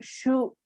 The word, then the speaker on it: shook: yeah, and it's pronounced shook. Okay, so it almost sounds like a U sound.